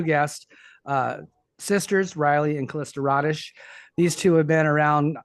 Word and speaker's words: Rodish: It's Rodish.